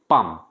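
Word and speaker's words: palm: উচ্চারণটা কিন্তু পাম নয় এলটা কিন্তু সাইলেন্ট ওয়ার্ড পাম তার হাতের তালুর দিকে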